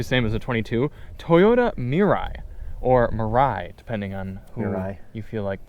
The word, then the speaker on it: Mirai: Toyota Mirai or Mirai depending on who or I you feel like pronouncing it I actually watched a Toyota video